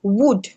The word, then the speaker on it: would: Yes, so the L is not, the L is absorbed in the pronunciation.